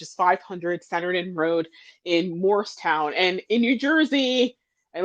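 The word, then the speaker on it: Moorestown: So it's we pronounce it Morristown, but it's Moorstown, New Jersey.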